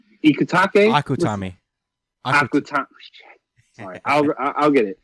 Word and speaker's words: Akutami: You see that a lot in American comics, and god damn it, yo, Ikutake, Akutami.